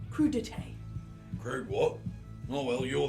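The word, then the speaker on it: crudités: Then a duck and truffle pate with crudites. I think it's pronounced crudité.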